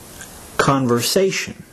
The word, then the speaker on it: conversation: syllables conver say sh notice that the third syllable is to be accented while the other syllables are to be pronounced softer listen as I say the word conversation conversation now you try it